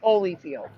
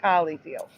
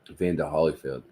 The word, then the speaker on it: Holyfield: Holyfield. But again, never pronounced Holly. Always Holyfield.